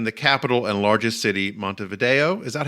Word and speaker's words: Montevideo: them live in the capital and largest city, Montevideo. Is that how you pronounce it, David? Very good, George. All right. I'm not going to make the common mistake of calling it Montevideo.